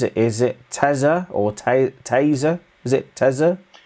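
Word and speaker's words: tesa: that tim it's not tessa is it is it teza or taser is it it is spelt t-e-s-a but it is pronounced taser taser okay so there we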